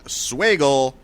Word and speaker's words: Swagel: that was written by Brian swagel rhymes with Bagel probably not a Jew